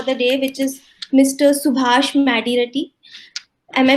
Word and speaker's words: Subhash Madireddy: Subhash Madireddy. Am I pronouncing your name correctly?